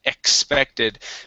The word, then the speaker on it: expected: All right, let's take a look here at expected. Make sure to pronounce a KS sound here for the X. Okay, so it's never expected instead of expected, a K sound.